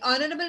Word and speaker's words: honorable: In honorable man, H is silent, and the second alphabet is O.